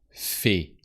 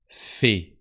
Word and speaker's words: fait: Elle fait. Il fait. On fait. So AI sounds E or E. And the T is silent because it's not activated by a following E.